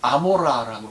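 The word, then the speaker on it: עמורה: 고모라는 이제 히브리 말로 아모라라고 읽습니다. 아인이라고 하는 철자가 이게 후음, 거트롤이거든요. 이런 소리를 내요.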